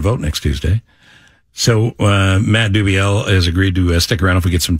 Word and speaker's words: Dubiel: Matt Dubiel. Dubiel, not Dubiel. Dubiel.